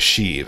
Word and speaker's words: Sheev: this the way that if I'm pronouncing it rightly from the person in the comments and says shiv shave if but long e would be sheave okay we'll go with sheave I think it kind